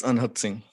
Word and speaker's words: Anhad Singh: Anhad Singh, am I pronouncing your name correctly? It's Anhad Singh, right? Yes, sir. It's Anhad Singh.